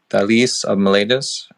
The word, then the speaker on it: Thales of Miletus: And so the topic that we're going to be talking tonight, well, first, before we go into, by the way, it's pronounced Thales of Miletus.